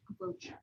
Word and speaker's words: brooch: Brooch. Brooch, B-R-O-O. It's spelled brooch, but it's not.